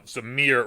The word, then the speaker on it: Myr: yeah myr oh um Samir rhymes with deer it's a creature type